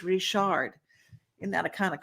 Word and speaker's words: Richard: I know it's spelled Richard, but I'm from Louisiana. She's from Nova Scotia, where all the Cajuns originated from. So it's Richard.